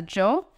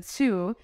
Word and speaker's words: Hsu: the kanji, as a Joe. So I think at first I correct, this is not Joe, but this is a Hsu.